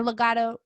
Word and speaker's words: Legado: Or Legado.